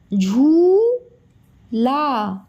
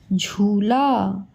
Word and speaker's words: झूला: ये है झूला, जब ज़्यादा देर तक आवाज़ आती है ना तो बड़ाऊ की मात्रा लगती है।